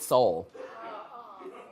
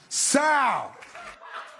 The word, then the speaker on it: Soul: Tracy, now I know you've been hit in the head, but he mispronounced the word soul while giving out an award. Just take a look at Mr. Morgan. And the Golden Globe goes to Sal.